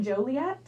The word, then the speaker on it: Joliet: We pronounce it Joliet.